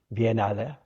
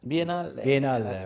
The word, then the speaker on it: Biennale: Drumming up support, I suppose, for next year's Biennale. Biennale. Biennale. We're going to say it right.